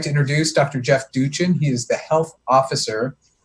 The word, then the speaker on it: Duchin: Jeff Duchin.